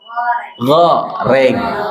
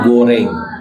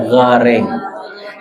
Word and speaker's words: goreng: dan harus pakai bahannya minyak goreng bukan guring ya goreng ya banyak contohnya ya